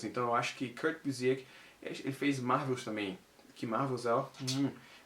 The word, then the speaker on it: Busiek: Pra você que quer saber como se pronuncia, Busiek. Eu procurei. Ah, você procurou? Eu botei lá, interview Kurt Busiek. E aí a pessoa fala, estamos aqui com Kurt Busiek. Eu falei, sabia, Busiek. Então é assim que se pronuncia o nome dele.